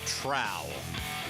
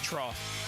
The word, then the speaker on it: trough: that's like a a is it called a trough or a trow how do you pronounce that you like what pigs eat out of trough trough you look like you